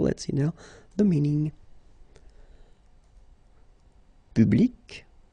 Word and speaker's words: public: Public. So you can see that you get this final C and then you pronounce it, public.